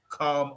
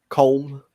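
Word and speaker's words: Colm: having me on uh it's pronounced calm calm um ah it's a column as well it's the irish version of my name uh i'm really lucky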